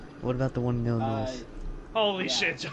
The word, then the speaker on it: Illinois: What about the one in Illinois? Holy Joseph. Now you're just doing Now you Loki, why did you call it Illinois with an S? It's Illinois.